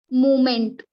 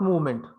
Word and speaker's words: moment: a pronunciation like movement moment moment mo mo moment we have to say simply as a moment not movement move movement v that a pronunciation should not be there a moment it is